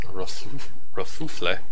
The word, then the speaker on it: Kerfuffle: That's pronounced Kerfuffle.